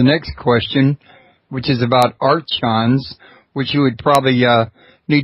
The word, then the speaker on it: archon: Could you explain to us who the archons are and what their goal is? Yeah, the word is archon, so the CH is pronounced as a K.